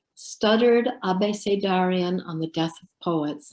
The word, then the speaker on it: abecedarian: And the first one is called Stuttered Abecedarian on the Death of Poets. And I think most of you probably know about I pronounce it the Spanish way, Abecedarian ABC poem, where